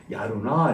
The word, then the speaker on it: やるな: 와, 야루나. 여기서는 나로 발음했습니다. 남자들은 좀 어른들은 이제 반말로 네 대신에 나라고 합니다. 그래서 야루나 이렇게 야, 대단하네 데이트 야루나 이렇게 발음했습니다.